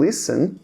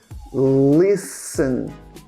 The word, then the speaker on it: listen: uma letra muda é uma letra sem som que é o t Então esse verbo a gente pronuncia Listen l l então a